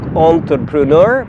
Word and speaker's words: entrepreneur: الكلمة الأولى تنطق entrepreneur بمعنى رائد أعمال، تنطق شبيهة باللغة الفرنسية، والنطق الصحيح مرة أخرى entrepreneur.